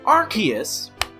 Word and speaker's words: Arceus: Ever since Arceus, I have to say it properly. Ever since Arceus, I apologize to those that...